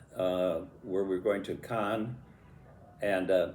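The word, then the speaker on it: Cairns: where we're going to Khan. And uh it's interesting that town and the area around it. It has an R in it, but you don't pronounce pronounce the R in Australia.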